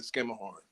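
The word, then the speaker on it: Schermerhorn: You're not going to call it I don't know anybody that I've ever been with in New York call it anything other than skimmer horn.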